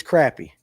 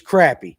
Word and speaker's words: crappie: Now, listen, it's crappy. I know you I know you're from Mississippi and all that and you guys all say it wrong once you get outside of Georgia. It's crappy.